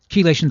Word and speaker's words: chelation: Chelation therapy, right? Chelation is spelled with a CHE, like chemistry. It's a hard C.